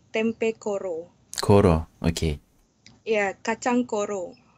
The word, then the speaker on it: kacang: Tempeh kacang. Kasang.